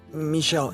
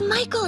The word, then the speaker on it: Michael: Also, our talk has gotten me interested in reading some of Michelle Andy's books. Sound good? First off, it's Michael Andy, not Michelle.